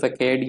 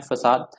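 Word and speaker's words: façade: ठीक है, अब ये इसको आपने प्रोनाउंस फकेड या फसेड नहीं करना, बेसिकली इसकी प्रोनाउंसिएशन है फसाद।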